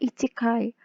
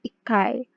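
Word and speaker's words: 一階: Ichi ditambah kai, jadinya tidak ichikai, melainkan ikai. Ada perubahan pelafalan di sini. Ada perubahan kata di sini. Jadi bukan ichikai, melainkan ikai.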